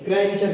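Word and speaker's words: grandeur: ई आया हो, तो डी का उच्चारण ज होता है। जैसे यहाँ पर देख लीजिए, जी आर ए एन डी यू आर, इसे ग्रैंचर करिएगा, एस ओ एन टी आई ई आर, इसे सोल्जर करिएगा।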